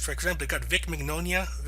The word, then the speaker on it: Mignogna: For example, they've got Vic Mignonia. How do you pronounce that? Mignogna, thank you.